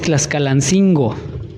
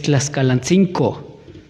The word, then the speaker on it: Tlaxcalancingo: Por ejemplo, no es Tlaxcalancingo, es Tlaxcalancinco, no con G.